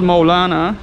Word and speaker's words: Mevlana: And Mevlana is actually, it's called Mawlānâ, which pronunciated in Arabic or in English, Mawlānâ.